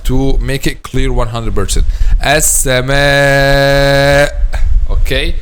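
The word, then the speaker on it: السماء: Okay, an example of that is the word as-sama. Okay, some students make this sound at the end a weak sound, not clarify the sound of al-hamza. Say like this: as-sama, as-sama, not as-sama.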